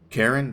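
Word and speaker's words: Charon: Karen? That's how you pronounce it? I thought it was Sharon.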